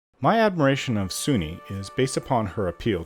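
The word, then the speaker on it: Sune: My admiration of Suni is based upon her appeal to beauty inside and out, but mostly because of her affinity with true love. Sun, S-U-N-E, pronounced Suni, also known as Lady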